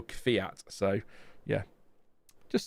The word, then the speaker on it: Kvyat: But a bit like I called Daniel Kvyat. I called him that for years, but then it was Daniel Kvyat.